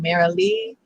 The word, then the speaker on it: Marilee: i say how do you say your name merrily media yeah it's a polish name and that's